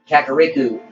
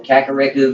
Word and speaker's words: Kakariko: it's kick Kakarot village I think is once pronounced should be yeah Kakariko village we're gonna go this way and right